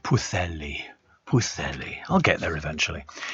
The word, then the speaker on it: Pwllheli: So it's pronounced Pwllheli.